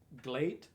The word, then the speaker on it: GLEAT: today is actually pronounced glate because it's like great but with an l oh interesting feels like